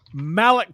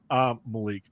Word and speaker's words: Malik: Malik Tillman has shined. Malik, let me correct that. He was Malik whenever he was in Europe. And then we got people reminded them that Americans pronounce that Malik.